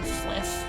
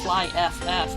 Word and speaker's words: FlyFF: Did you know you're supposed to pronounce that name as fliff?